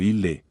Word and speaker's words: ille: La doble L se pronuncia en separado, ejemplo ille, nullus.